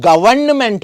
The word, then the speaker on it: government: करते गवर्नमेंट बुलिए क किंतु गवर्नमेंटर जदि आपुनी स्पेलिंग साबলৈ যায় নহয় তো গভর্নমেন্ট হয় এটা এন থাকে যেটো বেছি ভাগ মানুহে